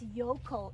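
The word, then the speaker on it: Jökull: It's Jokull. It's J-O-K-U-L-L. Jokull. In Icelandic, it said Jokull.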